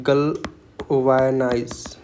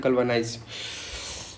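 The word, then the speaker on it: galvanize: electrify बोल दो ना इलेक्ट्रिफाई बोल सकते हो आप गलवा गलवायनाइज़ करके होता है गल वायनाइज एक्चुअली इसका प्रोनाउंसिएशन होता है गलवानाइज सो अगर स्ट्रेंथन मतलब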